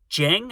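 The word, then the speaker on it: Djeng: Frank Jing, I think the D is silent, and FJ DeSanto.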